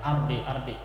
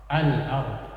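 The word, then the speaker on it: الأرض: Salah fil ardi jangan ardi. Harus alif lamnya harus dibaca. Al ardi.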